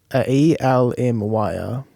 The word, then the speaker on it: Elmyr: So Elmyr will be A-L-M-I-R. E-L-M-Y-R. Elmyr.